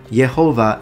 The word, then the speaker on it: Jehovah: by pronouncing yahu given the English pronunciation Jehovah is the result of a corruption due to a Latin transliteration which basically rendered in English pronunciation as a j with that being said